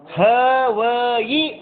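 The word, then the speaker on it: हवइ: ಇನ್ನ ನಾವಏನು ಮಾಡ್ತೀವನಪ್ಪ ಅಂದ್ರೆ ಪಡಮಮ ಹೋಯಿ ಮಂಗಲ ಅಂತನು ಪಡಮಮ ಹೋಯಿ ಅಲ್ಲ ಹ ವಯಿ ಮಂಗಲಂ ಪಡಮ ಹವಯಿ ನಾವು ಉಚ್ಚಾರದೊಳಗೆ ಏನ್ ಮಾಡ್ತೀವಿ ಹೇಳ್ರಿ ಅದ ಹೋಯಿ ಅಂತ ನಾವು ಪಡಮ ಹೋಯಿ ಮಂಗಲಂ ಅಲ್ಲ ಪಡಮಮ ಮಂಗಲಂ ಇನ್ನ ಕೆಲವೊಬ್ಬರ ಯೇಸು ಪಂಚ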